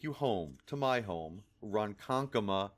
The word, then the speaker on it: Ronkonkoma: home to my home Ronkonkoma New York remember that's how it's actually said I'm sure you will